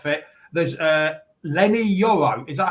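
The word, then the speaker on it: Leny Yoro: man not there he's not fit there's uh Len yoro is that how you pronounce it yep yeah he's uh he's only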